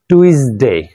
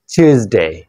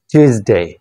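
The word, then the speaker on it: Tuesday: দেন এটাকে বলো অনেকেই টুইসডে, নো এটা হবে টিউসডে, টিউসডে, টিউসডে।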